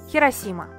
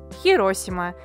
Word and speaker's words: Хиросима: а еще про назвать хиросима во-первых потому что это два слова а во-вторых в японии не существует ударение так что вообще неважно какое то произносите и так и так будет правильно первое с чего мы